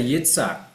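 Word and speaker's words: יצחק: Yeah, but if we were pronouncing it like in the proper Hebrew, that would be they would say Yitzhak as the name Isaac.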